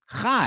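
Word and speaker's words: חי: There's chai tea, and then the number 18 is pronounced chai.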